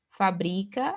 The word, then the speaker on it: fabrica: Fabrica, né? É o bri aqui, que é a sílaba tônica, paroxítona terminada em A, não acentuado.